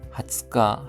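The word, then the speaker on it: 二十日: 후따고 라이앤 내년 리가츠 2월 하츠카 하면 20일입니다. 아츠카 발음에 주의해 주십시오.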